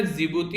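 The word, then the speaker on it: Djibouti: जैसे कि मैंने बताया ना, याद रखना, जिबूती हो गया यहाँ पर, और एरिट्रिया हो गया, इथियोपिया हो गया, और सोमालिया, डी साइलेंट है, इसको जिबूती बोलेंगे, ठीक है।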